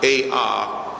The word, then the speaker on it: Ovist: It's spelled O-V-I-S-T. It's pronounced A-H-V-I-S-T.